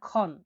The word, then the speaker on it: xon: পরবর্তী অক্ষরটি হলো এক্স, এক্স এর উচ্চারণ হয়ে থাকে খ এর মতো, আরবি যেমন আমরা খ বলি এরকম খ এর মতো, খ, তাহলে extra is equal to এইচ উচ্চারণ হয়ে থাকে, মানে খ, বাংলায় লিখলে খ এর মতো।